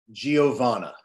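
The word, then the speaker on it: Geovanna: Could you please pronounce her name for me? Because I always get it wrong. Giovanna.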